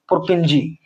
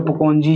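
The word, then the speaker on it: Purkinje: और 1840 में एक और साइंटिस्ट आए, पुरकिंजी। 1840 में एक और साइंटिस्ट थे, पुरकेंजी। पुरकेंजी, पुरकेंजी या पुकोंजी जो भी बोल सकते हैं, बोल सकते हो यार, प्रोनाउंसिएशन साइंटिस्ट थे।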